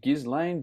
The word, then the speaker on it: Ghislaine: Ghislaine? I think that's more of the things that happened. Just Andrew. Seriously. People who Ghislaine. Ghislaine. Maxwell, so Prince Andrew. S is silent.